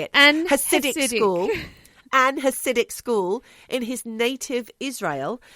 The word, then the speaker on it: Hasidic: Hasidic school.